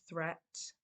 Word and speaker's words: threat: Watch out for meat and great and threat. They rhyme with sweet and straight and debt.